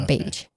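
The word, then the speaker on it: Bache: It's spelled When I looked it up and listened to the reportage, it said it was like cage but with a B. Yeah, beige.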